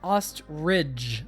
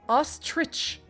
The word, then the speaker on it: ostrich: is amazing on a podcast uh you're saying ostrich like with dge right yeah that's how I've always pronounced it in the past so in the past because today is the day of change it's pronounced ostrich T RI CH hi ever I pronounce words